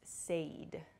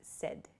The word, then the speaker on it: said: with the word said a lot of people I've heard use Sade Sade is not correct so please use said it sounds like s-e-d the pronunciation but it's said s-a-i-d